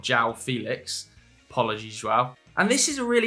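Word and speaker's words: João Félix: And it is Joao Felix, not Joao Felix.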